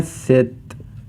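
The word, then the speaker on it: 셋: कहते हैं दुल ी को हम कहते हैं सेत ी को हम कहते हैं नेत फाइव को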